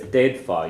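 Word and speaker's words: d'fhéadfá: To say you could, it's deidfa. You do pronounce the F here.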